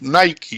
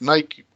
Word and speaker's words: Nike: por qué porque hay en eeuu y la pronunciación es nike y no es nike pero acá en perú nosotros le decimos nike entonces fijate es curioso y muchos nosotros todavía